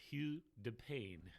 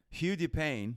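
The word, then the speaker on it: Hugues de Payens: His name was pronounced Hugh de Payne. Hugh de Payne, thank you for that pronunciation. Hugh de Payne created a military order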